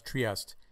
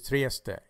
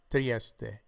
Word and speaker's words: Trieste: people pronounce this as triest the E is pronounced on the final letter this is Trieste Trieste Trieste thank you for